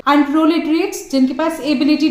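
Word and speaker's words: proletariat: Conflict exist करती है between बॉर्जुआजी एंड प्रोलेटेरिएट। तो इन दोनों वर्ड्स को कुछ इस तरीके से ही प्रोनाउंस किया जाता है।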